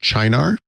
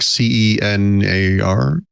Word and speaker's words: Cynar: I already know the answer to this question, but I was recently introduced to something I believe is pronounced Cynar. It's like CENAR.